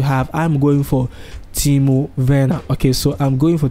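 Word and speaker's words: Werner: you want to have i'm going for timo verna okay so i'm going for timo when i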